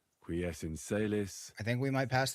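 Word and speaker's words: Qui es in caelis: You're saying it wrong. Listen. It goes like this. Pater noster. Qui es in celis.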